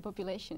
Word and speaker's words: population: I dicho pew, pew, pew, pew, pew, pew. Population, perfect.